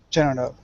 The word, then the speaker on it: general: General. General. General. General. General. Close. So we don't really pronounce the second E.